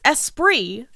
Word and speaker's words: Esprit: only one i it's espri oh i thought there was two eyes no there's only one e-s-p-r-i-t okay so it's mr east e sprite he's all for that electronic sprite mr e sprite i'm fine with it